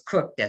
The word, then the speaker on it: Kukta: And I made sure that I knew how to pronounce his name because it's spelled Kukta, but it's Kukta.